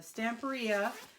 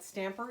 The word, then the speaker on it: Stamperia: I'm back today to finish working on my stamp RIA I just discovered that I was pronouncing the company name wrong when I was over at CH a instead of Stamp period Stamper yeah and this is the spring botanical so